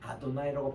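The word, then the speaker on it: אדני: 그래서 이거를 유대인들은 이름 말을 수도 로드라고 하는 아도나이라고 발음해요.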